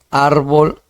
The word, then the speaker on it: árbol: En todo caso, árbol sería una palabra grave donde la sílaba más intensa es en ar, ¿ya? Y bol sería la menos intensa y sería pues una sílaba no átona, ¿ya?